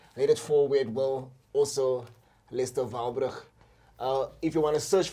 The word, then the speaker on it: Walbrugh: Your surname is it pronounced Walbrugh? Walbrugh, yeah.